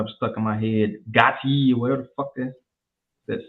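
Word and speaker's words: Gotye: Gotti or whatever the fuck that somebody used to know shit. You know what I'm talking about? It's pronounced OTA.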